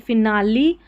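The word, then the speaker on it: finale: देखिए यहां पर देखिए फिनाली रेसिपी और यहां है सिमिली। सभी में इ उच्चारण इस इ का उच्चारण हो रहा है।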